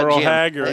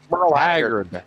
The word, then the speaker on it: Haggard: Moral Hagger. Yeah, eventually we'll get him to say his name even correctly. It's Haggard with a D. Moral Hagar. It's just that Haggard. Moral Haggard. Hagard.